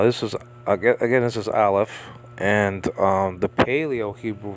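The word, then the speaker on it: aleph: and L you got the ALF here which is a silent letter pure silent letter there are two silent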